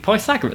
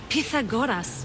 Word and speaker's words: Pythagoras: Discover Atlantis and speak with Pythagoras. That was Pythagoras. How did he pronounce his name?